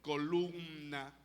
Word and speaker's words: columna: Baluarte de la verdad sigue pronunciarlo bien Acuérdate que tiene m columna Cómo se dice columna